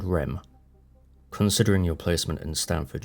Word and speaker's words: REM: he explained to me ADM and RM pronounced ad and REM considering your placement in